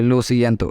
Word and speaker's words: lo siento: Okay, lo siento, and for pronouncing it correctly you can also split into 4 parts. Okay, LO at once, SI at once, EN at once, and TO at once, so it becomes lo siento.